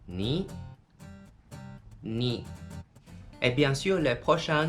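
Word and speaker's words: 二: Et on prononce en mandarin et en japonais, ni.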